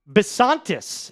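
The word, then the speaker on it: Bisontis: Chase Basantis is, I believe, how you pronounce this.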